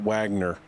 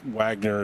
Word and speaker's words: Wagner: I'm guessing he probably pronounces that Wagner, being American. I think Wagner is probably the pronunciation there. That's the way we would pronounce it in the United States.